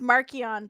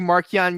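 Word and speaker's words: Marchion: book right now oh that's true oh it's pronounced markian by the way i i i was a big marquian guy but now i kind of i do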